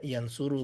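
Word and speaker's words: ينصر: belajar sendiri ya gitu Buka kamus dia bacanya misalkan Yans suru ini ya bacanya Yans suru Yans siru atau yansoru e bacanya Yang suru kalau sama Ustaz langsung dikasih tahu ini Yans suru bacanya makanya kalau belajar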